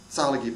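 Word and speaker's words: Tsalagi: a Celtic salagi Druid salagi by the way is the proper charokee pronunciation of the word Cherokee you might say I'm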